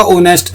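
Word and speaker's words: honest: आवर एक घंटा एन ऑनेस्ट देखो एच जो है वोवेल नहीं है लेकिन बोला जाएगा ऑनेस्ट एच साइलेंट है तो एन आया एन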